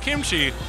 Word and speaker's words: kimchi: in the flavor town do you know where kamichi is from it's actually pronounced kimchi young Bryce let's talk a little bit about